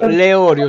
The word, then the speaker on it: Leorio: Leorio si legge. Leorio. Come quelle che si mangiano.